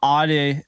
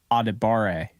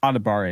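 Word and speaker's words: Adebawore: out that it's actually adibare so it's spelled like a dab of War which honestly kind of sounds kind of cool but adibare is pretty cool he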